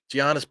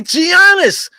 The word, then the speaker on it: Giannis: down his shots knocking down the easy buckets Giannis pulls up at the basically the foul line